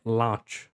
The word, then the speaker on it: launch: E olha só, launch la lot com lunch. Aqui parece que tem mais o Lunch lunch. E aqui é launch launch.